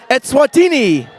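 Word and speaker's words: Eswatini: okay that's why I say it please correct me yeah I might say wrong word two more times the correct pronunciation is etswatini there we go and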